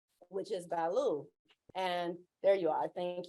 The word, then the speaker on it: Balu: which is Balu. And there you are. Thank you. And, did I say that right? I said Balu, but it's Balu? Balu.